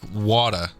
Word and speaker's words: water: T's are very underpronounced in American English and often even take sound of the letter D, like water.